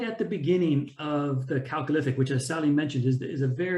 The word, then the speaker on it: Chalcolithic: Oh, so I should say actually that there's two different ways of pronouncing Chalcolithic, either Chalcolithic or Chalcolithic. Most Irish say Chalcolithic. Myself being an American, I say Chalcolithic.